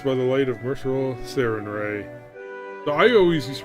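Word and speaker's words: Sarenrae: Unless by the light of mercural sarinray. So I always used to pronounce it Serenray, but I guess it's Sarin Ray.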